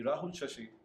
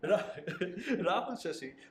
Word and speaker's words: Rahul Shashi: To talk more on that, I've got with me Rahul Shashi. I pronounce his name correctly. Yeah. Rahul Shashi, who is the founder of CloudSafe, a Bangalore-based cybersecurity startup.